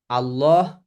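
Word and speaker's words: الله: বা দম্মা থাকে তখন আমরা আল্লাহকে আল্লাহ লামকে ল যেমন আর ইংলিশে ল আছে না এটাকে কি বলে আইন কানুনের যে ল ল এল এ ডব ল ওইরকম উচ্চারণ করতে হবে আল্লাহ আবার শুধু ল এইযে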